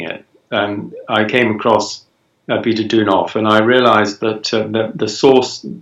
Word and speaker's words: Deunov: How do you pronounce his name? Deunov.